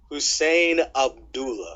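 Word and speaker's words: Husain Abdullah: b and the safety position let's go with hushan how do you how do you say it Nick I know you could say it right Hussein Abdullah Hussein Abdullah with an Eric Barry Hussein Abdullah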